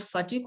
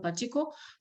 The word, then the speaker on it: Patiko: Sir Samuel Baker, and it has two different kinds of pronunciation, sometimes called Fatiko or Patiko, but we look at